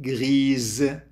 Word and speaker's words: grise: La règle est grise. حطينا الأو، ثبتناها الأو بآخر الكلمة، وبالتالي صارت تلفظ الإس، لكن بما أنها بين حرفين صوتيين صارت تلفظ زد.